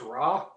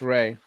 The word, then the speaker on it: Rai: good your name is raw what please don't tell me your name is raw no no it's ray it's rai it's it's pronounced rey why isn't he keep